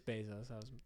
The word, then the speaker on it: Bezos: I don't know how you say it. I'm always going to say Bezos. No, it is Bezos.